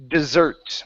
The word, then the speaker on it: dessert: That is pronounced dessert with the stress at the very end.